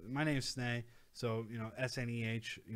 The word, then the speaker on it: Sneh: My name's Sneh. So, you know, S-N-E-H, you know, people have pronounced it Snee. People have said snake, you know, so, you know, it's an Indian name.